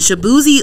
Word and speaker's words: Shaboozey: And Shaboozey was on the... Okay, so what list did Shaboozey make for the Made in the DMV?